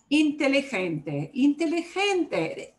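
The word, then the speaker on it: inteligente: kind of axamer ah intelligente is what should get the punch here is the second to last syllable yep the way i say it obeys the rule second to last syllable gets the punch you know basically i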